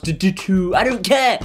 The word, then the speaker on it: Ditoo: this is the davoom dittu cue the people in the comments section telling me that it's pronounced due to i don't care it's